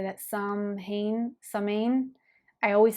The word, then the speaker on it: Samhain: Okay, so I just looked up how to say it. It's Samhain. So I was saying it totally wrong.